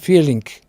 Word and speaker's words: Vierling: Vierling o Vierling se pronuncia Vierling.